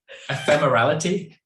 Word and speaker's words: ephemerality: to say this wrong i'm going to say ephemeral yes no i can't say this how do you say ephemeral equality but they said ephemera ephemerality yes thank you slade here of